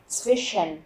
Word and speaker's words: zwischen: Và cuối cùng là zwischen. Zwischen. Các bạn chú ý phát âm từ này, nó có chữ SCH ở giữa cho nên chúng ta sẽ đọc là sh.